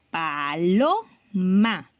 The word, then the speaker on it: paloma: Y que la fuerza de su voz está en lo, porque nosotros decimos paloma, ¿cierto?